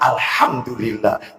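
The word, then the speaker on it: الحمد لله: alhamdulillah alhamdulillah alhamdulillah alhamdulillah apa ini delam delam delam delam apa ini I mestinya Alhamdulillah bukan alham Alhamdulillah allahu akbar allahu akbar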